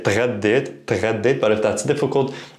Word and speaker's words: تغديت: Now, pronunciation-wise, if you're having trouble with the two consonants here, t and gha, saying them together, you can add an e at the beginning. So you can say اتغديت, اتغديت. This is also a very common pronunciation by native speakers.